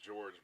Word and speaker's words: Jorge: His name is spelled Jorge. Yeah. And I remember when we were playing, you're like, is this guy Jorge? And I was like, no, technically it's George, but it's spelled Jorge.